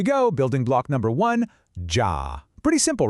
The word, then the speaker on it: ja: Building block number one, ja. Pretty simple, right? It sounds just like yah in yacht.